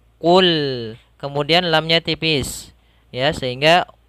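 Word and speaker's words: قُلْ: Huruf qaf makhrajnya ketika kita melafalkan qaf ini hati-hati jangan sampai kita baca terbaca dengan huruf kaf, jangan kul. Tapi dia tebal lagi. Qul.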